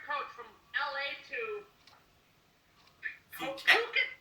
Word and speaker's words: Phuket: Phuket, Thailand? It's pronounced Phuket. Phuket, Thailand.